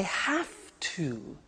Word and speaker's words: have to: hear my pronunciation I have to notice I don't say V I say f have have it becomes